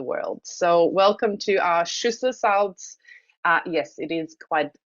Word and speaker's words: Schüssler: So welcome to our Schüssler salts. Yes, it is quite interesting how we pronounce that. It is Schüssler, yeah.